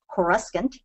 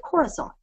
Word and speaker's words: Coruscant: If you look at that word, spelled exactly as it is spelled, Coruscant, and you pronounce it differently, you get Coruscant.